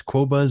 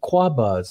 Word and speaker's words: Qobuz: And the other guy's going, "No, it's Qobuz." And the other guy's going, "Oh, well, no, it's Cuba."